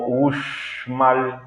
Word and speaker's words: Uxmal: que hice a uxmal bueno uxmal nosotros los yucatecos lo pronunciamos como uxmal uxmal algunas contribuciones se basan